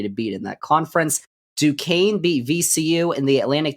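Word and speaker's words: Duquesne: Duane by the way du quu s NE it's duaine is how you say that University's name I have learned recently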